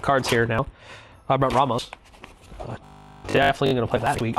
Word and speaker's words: Ramos: even say trauma serve Ramos Ramos is the correct Hispanic pronunciation Ramos the dragon engine